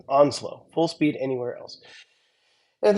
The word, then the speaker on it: Onsloow: Again, the name is spelled Onsloow, so it's a little weird, but Onslow, Full Speed Anywhere Else.